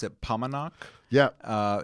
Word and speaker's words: Paumanok: we we pronounce it pomenak yep uh it rhymes with montauk we believe okay we're not actually yeah yeah so we're not i'm from jersey it's pomonic sorry pomenok i will try i